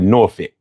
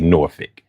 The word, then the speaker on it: Norfolk: uh not Virginia Beach, but Norphick, which is spelled Norfolk, but you know, they say Norphick.